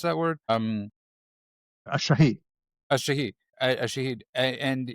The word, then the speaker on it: shahid: How do you pronounce that word? A shahid.